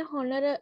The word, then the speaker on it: honor: අපි අර හාමුදුරුවනට කියන්නේ honor honorable කියලා නේ මෙතන honor එක silent h එක silent honorable honorable h එක සද්ද වෙන්නේ silent හරිනේ හරි බලන්න so